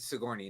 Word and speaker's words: Sigourney: Sojourner Weaver? Yeah. Okay. Sigourney Weaver. I think. Sigourney. Yeah, that's it. Sigourney, not Sojourner.